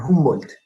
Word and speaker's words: Humboldt: se llame, Alexander von Humboldt. En alemán la H suena como la J nuestra, Humboldt.